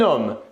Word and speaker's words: homme: par un h et le h du mot homme est 1h muet donc il va être possible de faire les liaisons ou bien encore les visions exemple on va ici prononcé un homme la liaison qu'est ce